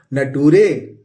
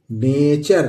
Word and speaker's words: nature: इसी तरह NATURE क्या पढ़ेंगे दोस्तों? नटूरे। नहीं नटूरे, नटूरे नहीं पढ़ेंगे, इसको पढ़ेंगे नेचर। क्या पढ़ेंगे दोस्तों? नेचर। स्पेलिंग याद करने के लिए अच्छा है कि आप नटूरे याद कर लें, लेकिन लिखना रहेगा, पढ़ना रहेगा तो नेचर ही पढ़िएगा, नटूरे मत पढ़िएगा।